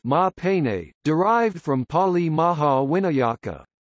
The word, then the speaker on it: Maha Pane: In the Burmese language, Ganesha is known as Maha Pane, pronounced Ma Pane, derived from Pali Maha Winayaka.